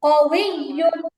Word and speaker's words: قوي: কউইউন আপু সুন্দর হয়েছে, কিন্তু ওই যে তাসদিদে যেটা শক্ত উচ্চারণ আছে ওইটা হয় নাই। কউইয়ুন।